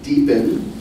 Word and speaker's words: DPN: network otherwise known as deepen who is sponsoring tonight's uh reception. So I here I have a word from our sponsor. Uh so DPE or DPN is the abbreviation pronounced deepen is a federated network